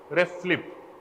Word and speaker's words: RFLP: do you pronounce this it is written as rflp but when you pronounce it it should be ref flip should be rest lip